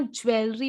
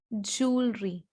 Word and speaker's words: jewelry: Next, it इज नॉट ज्वेलरी बट इट इज jewelry, jewelry.